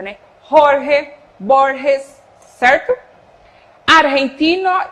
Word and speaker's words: Jorge Borges: esse som aí do, tanto o G quanto o J, esse som do R aqui na garganta, né? Jorge Borges, certo?